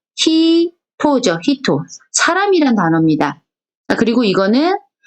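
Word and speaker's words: ひと: 이건 발음은 히토죠.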